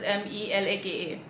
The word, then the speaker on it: Malacca: The name it's Malacca, Malacca. Some also pronounce it as Melaka, Malacca.